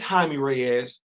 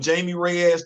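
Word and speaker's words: Jaime Reyes: can I say this it's haime Ray ass I know you want to call him Jamie Ray ass that's disrespectful as hell that mean means your privilege behind can't even do enough to just pronounce it like it's supposed to be pronounced you said you just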